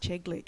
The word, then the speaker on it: Sheglick: South Australian games until her mum actually said to me, it's just Sheglick. It's like Czechoslovakia, the CZ.